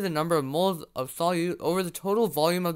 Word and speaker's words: solute: This is how you remember that in a solution, the solute, which rhymes with root, is rooted in or dissolved in the solvent.